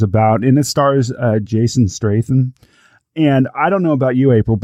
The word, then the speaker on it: Statham: Oh, is that how it's pronounced? It's pronounced Statham. Okay. Actually, Statham. I put an R in there.